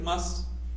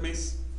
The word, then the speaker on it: mas: La palabra Masehual viene de una raíz más, que también se puede pronunciar mes, que aparece en varias lenguas de Anáhuac y está relacionada con los ciervos.